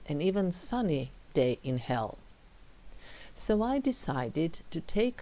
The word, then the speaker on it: Hel: Very important to emphasize it's Hel with one L, one single L, H E L.